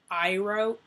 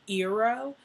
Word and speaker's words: Iroh: Iroh, Eero. It just, I don't even care if it's supposed to be pronounced that way.